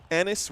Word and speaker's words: Ennis: Enis rhymes with Dennis.